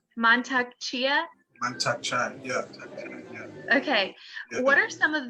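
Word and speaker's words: Mantak Chia: so as you know it's montecia i said it wrong montag chia okay what are some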